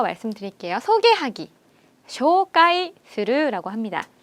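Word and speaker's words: 紹介する: 소개하기, 쇼카이스루라고 합니다. 한 번 더, 쇼카이스루라고 해요. 한국 발음이랑 엄청 비슷하죠?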